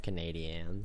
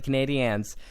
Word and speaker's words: Canadiens: Every time you say it, I'm just like, Canadians. You have to say the Canadiens.